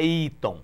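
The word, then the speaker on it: Eaton: é o nome americano eu sei que é iton nós chamamos de iton mas qu se pronuncia as letras é iat iat né e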